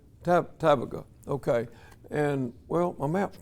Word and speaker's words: Tabgha: Tabgha? Tabgha.